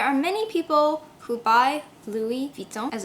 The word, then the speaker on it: Louis Vuitton: There are many people who buy Louis Vuitton, as it's properly pronounced, but how many people actually know much about the secrets of the brand?